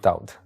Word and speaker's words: Daud: it was David just I changed the pronunciation David to doubt David and doubt is the same person yeah right it's a